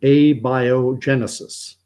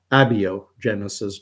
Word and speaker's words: abiogenesis: but doesn't matter uh the theory is called a biogenesis I used to say abio Genesis but I've heard I've been corrected and told